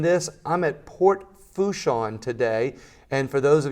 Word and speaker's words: Port Fourchon: Make sure I said that right, because I had a joke earlier about Port Fouchon, about how it's spelled. I said it's spelled wrong. It's F-O-U-R. That's not how you pronounce it.